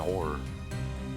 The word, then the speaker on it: horror: a little crafty and horror Horror by the way two syllables is what I said I will not be